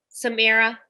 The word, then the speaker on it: Samiyrah: yeah like you're looking into a mirror yes Samara LCSW we talked about this beforehand I said to her I butchered someone's name once so I always ask